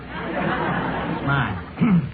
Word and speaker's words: Smythe: You know, it's spelled Smithy. Smythe.